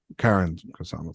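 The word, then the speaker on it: Karyn Kusama: It's Karen Kusama. Sorry. Well, thank you for correcting me, Andor. So since you're so like into pronunciations, it is Karen.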